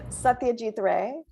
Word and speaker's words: Satyajit Ray: Satyajit Ray.